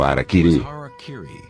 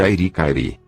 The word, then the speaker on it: Harakiri: Na tradição samurai, uma das formas de suicídio ritual, ou seppuku, era o Harakiri, frequentemente pronunciado erroneamente de Airi-Kairi.